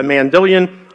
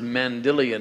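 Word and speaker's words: Mandylion: Why is it pronounced Mandilion instead of Mandelion? Well, I've heard it pronounced in a lot of different ways, but I guess when I got first acquainted with it and I saw Ian Wilson come in and make presentations on it, that's the way that he pronounced it, but I think it's technically a Greek word, I have to defer.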